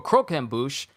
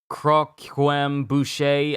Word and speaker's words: croquembouche: mom was later stricken by a craving for croquembouche and it it took me a minute to actually pronounce that correctly i thought i was called it uh krem boucher i didn't know how to properly say it